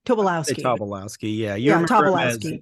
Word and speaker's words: Tobolowsky: Tobolowsky? Tobolowsky. Tobolowsky, yeah.